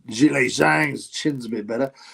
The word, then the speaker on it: Zhilei: Zhilei Zhang. Apparently is how you pronounce it. I don't know if he's an expert on Chinese talk, but Zhilei Zhang.